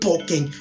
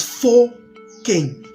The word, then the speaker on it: Fokeng: That's a silent F. So you can put it in Fokeng and not pronounce it Pokeng. It's Fokeng.